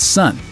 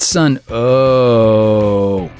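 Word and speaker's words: Sunn O))): like their name, but the band is simply called Sun. Not Sun, oh, even if they kinda make that sound a lot.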